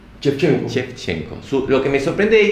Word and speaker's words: Shevchenko: Algo que me llama la atención de ella, ¿su apellido cómo se pronuncia? Shevchenko.